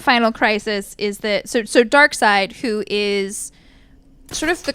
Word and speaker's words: Darkseid: And the way that they sort of just conceived to do that was to have Darkseid, who, yes, his name is Darkseid. That is spelled D...